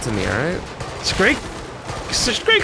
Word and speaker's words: Scrake: Is it with the K or the G? Which one? Scrake. Scrake? It's Scrake, okay. Yeah. Scrake. I keep wanting to call it a Scrag.